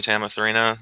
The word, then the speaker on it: Tamathrina: Oh, I might change her name at some point, but that's supposed to be Tamathrina.